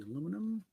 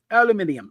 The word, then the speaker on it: aluminium: Aluminium. Okay. Yeah. Mm. And for the record, either pronunciation is acceptable.